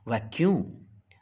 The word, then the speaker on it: vacuum: लेकिन सी लेटर का साउंड का है, क्यों? सी के बाद यू यहाँ लिखा है, इसलिए दिस इज वैक्यूम।